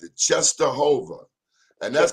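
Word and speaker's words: Częstochowa: I didn't know how to pronounce it. Czestochowa. And that's Czestochowa.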